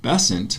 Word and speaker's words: Besant: about Annie Besant, somebody told me that she pronounced her name Besant because her husband's name was Besant.